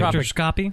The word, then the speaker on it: spectroscopy: I'll let somebody else try and work on pronunciation. Spectroscopy?